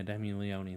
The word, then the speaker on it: Leone: Leone and yeah yeah Demi Leone that's how you pronounce his name and also stay tuned